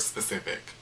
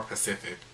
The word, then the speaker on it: specific: cannot pronounce the word specific yes there is an S at the beginning of that word talking about can you be more pacific what Pacific you want